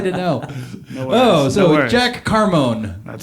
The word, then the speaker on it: Carmone: I'm I'm Jack from Carmon. Carm. See I think I was pronouncing the E uh maybe once on the Carone.